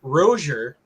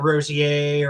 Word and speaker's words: Rozier: You had Corey Rozier, Yeah, right? So that's how you say his name, not Rosier or Rozier.